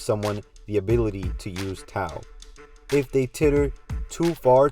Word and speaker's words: Tao: system in health's paradise is tau or dao which is more correctly pronounced but for now i'll